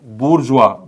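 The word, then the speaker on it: bourgeois: टू be best okay now next word is बुर्जवा बी ओ यु आर जी ओ आय एस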